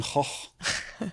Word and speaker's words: Gogh: Like the famous Dutch painter Van Gogh. Yes, that is how you I thought it pronounce was it. Gogh. it pronounced? Gogh is Gogh. Like Gogh. Van Gogh. But Wow. Dutch is Okay. crazy language, man. I just thought it was Goch.